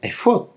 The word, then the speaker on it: efod: Álex Fey Dale y se pronuncia efod tal cual por decirlo de alguna